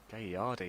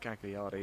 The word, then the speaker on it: Gagliardi: Both wearing blue shirts, but Gagliardi, I've been told, is the proper pronunciation. Thank you, Dan. Gagliardi. Yeah, Gagliardi, yeah, not Gagliardi.